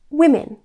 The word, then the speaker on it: women: The plural version causes difficulties because both vowel sounds change. We pronounce it women and not woman. Let's compare the two. Woman, women.